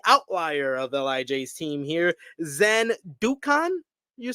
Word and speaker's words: Zandokan: of LIJ's team here, Zandukan. You said? That's how you say it? Zandokan, yes.